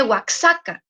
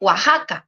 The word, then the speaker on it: Oaxaca: ejemplo cuando en español leemos la palabra Oaxaca no se le waxaca aunque esa x tiene una variación de pronunciación en español se dice Oaxaca no waxaca a los que aprenden